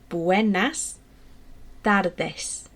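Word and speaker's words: Buenas tardes: say good afternoon in espanol because and it's pronounced Buenas dardes literally means good afternoon okay so it's your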